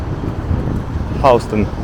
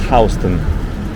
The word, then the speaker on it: Houston: patch is called naho which is north of houston and if you are a visitor or you've been living here for a short time you call houston houston because it's exactly how it's spelled just like the city of houston but